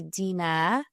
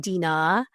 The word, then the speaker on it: Dinah: So my name is actually Dena It's not Dina. Um, there's a silent H in Arabic.